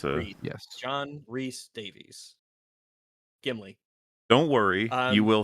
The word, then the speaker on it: Davies: Vinci and it was played by John Rice Davis. Davies.